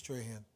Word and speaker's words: Tran: testimony given by Miss Tran I am pronouncing that right am I uh Tran yes TR okay now these